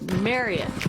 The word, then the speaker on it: Marriott: To say it right, it's Marriott like chariot, Marriott like lariat, Marriott like carrot. Marriott. That's going to be really hard to break that habit. Okay, so you heard it straight from Debbie Marriott Harrison.